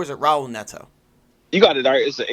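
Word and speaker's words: Raul Neto: point guard job out of Trey Burke and Powell Neto is a Raul Netto you got it is the H are pronounced like H you know with a game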